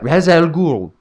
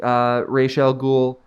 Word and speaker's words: Ra's al Ghul: his master, even though they pronounce it Raz in this movie and it's not correct.